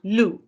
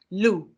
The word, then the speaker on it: loup: Un loup. Can you say that? Un loup. Now, if you look, you don't pronounce the last letter.